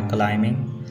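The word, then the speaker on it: climbing: Number three, आ got tired bye क्लाइंबिंग stairs. इस sentence में word क्लाइंबिंग में B silent है।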